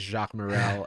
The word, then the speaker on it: Jacques Morel: and let me know if i'm pronouncing your name wrong i think i heard it as jacques morrell is that correct yeah okay that's correct um